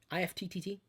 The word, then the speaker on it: IFTTT: If IFTTT. They say that they say you pronounce it IFT.